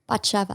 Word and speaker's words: Batsheva: And you're going to pronounce your name one more time? Batsheva.